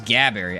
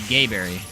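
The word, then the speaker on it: Gaberry: what we call it another one is gabbberry and it's technically gabbberry we used to call it gayberry this gay Berry makes more sense this is why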